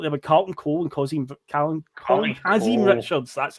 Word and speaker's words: Kazim Richards: But I looked there with Carlton Cole and Kazim Richards.